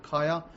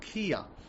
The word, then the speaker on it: Kia: You guys pronounce it Kaya. In Pakistan, they pronounce it Kia.